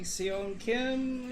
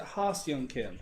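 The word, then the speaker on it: Ha-seong Kim: Hey, Seon Kim, is that how you pronounce that? No, it's not how you pronounce it. Ha Seon Kim. There you go.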